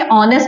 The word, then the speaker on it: honest: ऑनेस्ट के लिए बोलते हैं यहां पे एच साइलेंट है। यानी कि ये एच साइलेंट है। तो आप इसको प्रोनाउंस नहीं करेंगे। क्या बोलेंगे? ऑनेस्ट बोलेंगे।